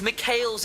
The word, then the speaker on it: Mikhail: It's Mikhail's is how you pronounce it in English.